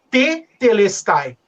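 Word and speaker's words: τετέλεσται: que a forma atemporal como se pronuncia ela você repete a primeira sílaba duas vezes aí é daí que vem o tetelestai né então o que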